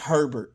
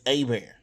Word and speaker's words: Herbert: come to louisiana um it's not herbert it's a bear yeah it's spelled the